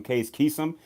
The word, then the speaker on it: Case Keenum: mispronouncing his name like when John Elway called Case Keenum up he called them Case Keenum you just called him chase man why he caught his